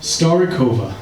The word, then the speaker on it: Starivoka: So, how do you pronounce the name of the band again? Starikova.